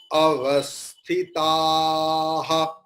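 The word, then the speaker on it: अवस्थितः: Yatha bhagam avasthitaha. Visarga, when it is in the last syllable, we have to pronounce it clearly.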